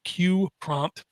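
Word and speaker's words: QPrompt: can load this out it's called q prompt and it is a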